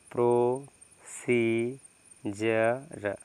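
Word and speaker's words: procedure: के बाद यू आर यहां पर डी के बाद यू आर है तो आप क्या पढ़ेंगे इसको बताइए क्या पढ़ेंगे इसको इसको आप क्या पढ़ेंगे बताइए इसको आप पढ़ेंगे प्रो स जर क्या हो जाएगा प्रोसीजर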